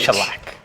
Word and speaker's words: Shellac: Shellac. All that practice. I just like saying it. I know. Shellac. Just say it. I was going to say shellac. That's close too. Shellac.